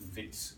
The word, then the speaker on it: Wits: the University of the Witwatersrand is usually just called Wits University, so it's Wits Rural Facility, and that W is pronounced with a V.